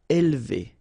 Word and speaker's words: élever: Élever. Alright, so don't pronounce this here. Élever, élever. Acheter.